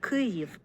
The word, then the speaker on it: Kyiv: My wife pronounces this as an aspirated K. That's actually something I wasn't entirely sure of before I recorded her, Kyiv, whether she would aspirate or not, but she does.